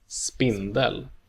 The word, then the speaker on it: spindel: versus spindel, Spindel.